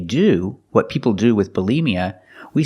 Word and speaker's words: bulimia: green beans B Bia put the stress on the second syllable Bia bmia is an eating disorder and when we describe what they do what people do with bulimia we say they binge